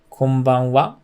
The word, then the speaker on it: こんばんは: Next one is konbanwa. This is good evening. So here, konban is a little low and wa is a little high, just like konnichiwa.